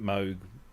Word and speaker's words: Moog: he said, you know, they pronounced it Moog, some people pronounced it moog and I don't care either way sort of thing.